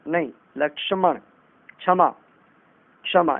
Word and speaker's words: लक्ष्मण: लक्ष्मण नहीं, लक्ष्मण।